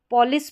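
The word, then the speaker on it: police: इसको पॉलिस पढ़ेंगे, पलिस करके तो पढ़ा नहीं जाता, इसको पुलिस करके पढ़ते हैं हम ज़्यादातर, तो पुलिस ही पढ़ेंगे।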